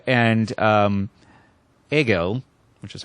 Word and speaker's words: Hegel: the show notes but fiche de and um ago which is how that is pronounced okay never do of the heartache well I think I think we can get away with Fichte and Hegel I think they're acceptable but um yeah this